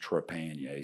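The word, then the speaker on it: Trepanier: near sorry come on last name is pronounced trapanier so you were somewhat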